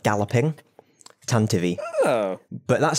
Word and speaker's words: Tantive: Tantive. Oh. But that's spelt with a Y. For some bizarre reason, he decided to spell it with an E, but still pronounce it the same.